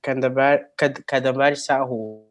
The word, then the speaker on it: Kadambari Sahu: Now we have Kadambar Sahu. I'm pronouncing your name correctly, right?